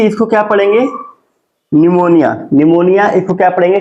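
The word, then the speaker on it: pneumonia: कि इसको क्या पढ़ेंगे निमोनिया निमोनिया इसको क्या पढ़ेंगे साइकोलॉजी बस इसमें आपको य ध्यान देना है की प के बाद एन या प के बाद एस आना चाहिए ठीक है और वर्ड और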